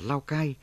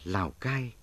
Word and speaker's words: Lào Cai: nghĩa là phố cổ, phát âm tiếng giấy và quan thoại là Lào Cái, người Pháp phiên âm là Lao Cay. Người Việt đôi khi phát âm là Lao Cai, nhưng phổ biến nhất là Lào Cai.